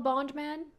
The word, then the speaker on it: Bond Man: G to call him Bond Man Bond man that's it isn't it yep and it's two syllables oh he's got the